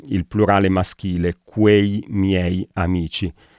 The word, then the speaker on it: miei: il plurale maschile, quei miei amici. Basta ricordarsi di pronunciare le vocali una alla volta, miei, e poi accelerare pian piano e non si sbaglia.